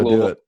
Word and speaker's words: Louisville: Am I saying it right, Louisville? Yeah, say it like you're drunk on bourbon. Yeah, it's pronounced Louisville. At least everyone from Louisville calls it Louisville.